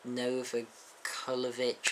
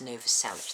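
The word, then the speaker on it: Novoselic: was um Dave grow Chris NOA kovich I never know how to say his name Paul McCartney and Pat smear oh Nova salich it's Chris Nova salich that's it and anyway they reunited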